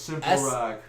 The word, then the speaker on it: SIMPLROK: That's why it's pronounced Simple rock. SIMPLROK. Because there's no words that you can't hear in it.